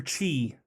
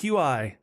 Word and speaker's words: Qi: So, it's kind of one of those like you got to cultivate your your chi, which spelled with a Q. That's not how I would have said that at all. It's Qi.